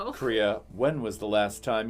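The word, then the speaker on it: Croía: And it's spelled way differently than it is phonetically spelled. Fair enough. You can give me that spelling if you'd like. So, the name is Korea. Korea. And it's spelled C R O I A. And there's a tilda on the I. It's an Irish name.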